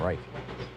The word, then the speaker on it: Reich: class robert reich uh reich reich however he says his name right right yeah there you go the english pronunciation anyhow he says uh